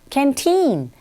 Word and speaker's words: canteen: canteen. 우리 숫자 발음할 때 15를 만약 한다고 하면 15 이렇게 하는 것처럼 canteen 뒷부분에 강세를 주시면 돼요.